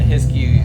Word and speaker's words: Hiskey: to spell that out so it's jt and his key so it's like whiskey without the w so h-i-s-k-u-y and that's